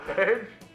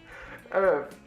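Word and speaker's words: Hervé: It's not Urge. Irv. Sorry, Irv.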